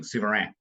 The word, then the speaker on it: Souverain: That last is like a kind of a nasal guttural thing. Souverain.